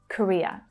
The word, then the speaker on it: Korea: So the middle syllable is stressed there. Korea, Korea. The other two reduce to the schwa sound.